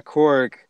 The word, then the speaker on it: Korg: But yeah, Korg, we didn't really touch on his character.